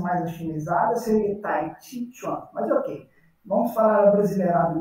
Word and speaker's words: Tai Chi Chuan: Se a gente quisesse fazer a pronúncia mais afinizada, seria Tai Chi Chuan.